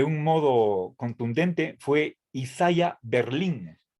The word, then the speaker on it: Berlin: es un nombre español y por más que la fuerza de voz esté en la última sílaba no he visto yo